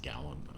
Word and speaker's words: Gallant: It's obviously pronounced Gallant.